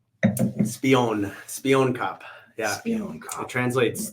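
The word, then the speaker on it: Spioenkop: How do you pronounce this? The Spoin Cup? Spion Cup.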